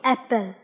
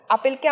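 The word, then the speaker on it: apple: আপেলকে অ্যাপেল। অ্যাপেল। আপেলকে আমরা আপেল বলি না, বলি হচ্ছে অ্যাপেল।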